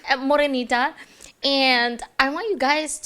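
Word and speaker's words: Morenita: Morinita.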